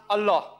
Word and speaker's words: Allah: wrote a l h they pronounce ella we pronounce allah when i was in school i was taught